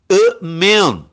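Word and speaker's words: אמן: E sem as pontuações, Aleph, Men, Nun. Amen. Amen, tá? É a pronúncia, tá?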